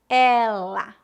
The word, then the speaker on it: ela: podem ajudá-lo primeira dica os pronomes femininos são pronunciados com e aberto e os pronomes masculinos com e fechado por exemplo ele pronúncia fechada ela pronúncia aberta este esta esse essa